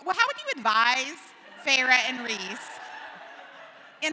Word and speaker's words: Feyre: learned from Erin yesterday, she did not know it was Feyre. She was like, Fair? So she's been saying it wrong for 7 books.